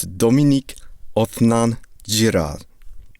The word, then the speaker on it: Dominique Othenin-Girard: gave me an audio recording of how to pronounce the goddamn director's name. So it's Dominique Othenin-Girard.